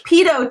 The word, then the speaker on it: pitot: It's pitot tubes, although just different pronunciation based on different versions of English.